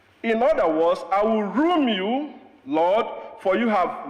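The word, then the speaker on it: ruum: And that word is pronounced room. Room. R-U-U-M.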